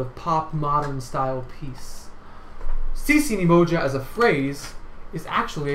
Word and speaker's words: Sisi Ni Moja: So we're going to move right along to the pronunciation of the text. So repeat after me. Heya! Heya, heya! Sisi Ni Moja. Sisi Ni Moja.